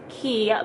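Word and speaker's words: Quay: but it's pronounced like I think it's pronounced key but it's spelt waste so that's why I always say quite Australia but it's key to Australia and then the next two pictures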